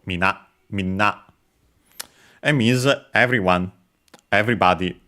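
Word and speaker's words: みんな: Uh less formal also uh but all both are accented on the last syllable. Mina Mina and means everyone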